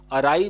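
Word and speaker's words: awry: जैसे कि ये जो आपका है, वैसे तो इसको अराई बोलते हैं बट कई लोग औरी भी कह देते हैं, तो आप इसका प्रोनाउंसिएशन चेक कर लीजिएगा। अराई भी प्रोनाउंस किया जाता है।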